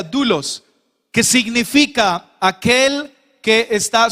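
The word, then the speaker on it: δοῦλος: Hay una palabra en el griego y se escribe doulos, se produce, se pronuncia dulos, que significa aquel que está subordinado y completamente a disposición de su amo.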